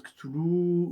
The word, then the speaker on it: Cthulhu: Il vous faudrait deux langues et trois pharx pour soit on prononce kattoulou ou kuttulu ou katou. Euh je crois le le terme plus ou moins officiel c'est katou. C'est katou. Katou.